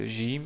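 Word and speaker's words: جيم: j'ai déjà dit que le Jim se prononce comme si c'est un G français, donc ils disent Jim au lieu de Jim.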